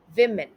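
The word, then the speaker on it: women: इस तरीके से सुनाई देता है वह सही उच्चारण कुछ इस तरीके से मैं थे विमेन तुषार बन जाता है विमेन विमेन इसका मतलब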